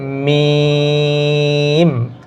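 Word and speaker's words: ميم: ঠিক আছে, তারপরে আছে মিম, মিম। এই যে মিম, বা মুখ স্বাভাবিক অবস্থায় বা উচ্চারিত হবে, আর মিমটা উচ্চারিত হবে এই যে ঠোঁটের যে শুকনো অংশ এখানে মি, মিম।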